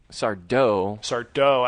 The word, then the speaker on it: Sardo: Sardo, accent on the dough, is the finest actor of any of them in both shows.